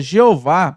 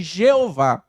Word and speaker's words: Jeová: para ter uma pronúncia eles pegaram o outro nome de Deus Adonai pegaram as vogais e fizeram a junção com essas letras aqui essas consoantes Y H w h dando assim a pronúncia de Jeová é uma curiosidade que